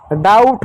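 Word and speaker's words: doubt: बी के बाद टी है यानी बी साइलेंट होगा। ब का उच्चारण एक है। डी को ड लिख दो। ओ यू को आउ आ की मात्रा प्लस ऊ पढ़ते हैं। टी का ट लिख दो। डाउट हो गया।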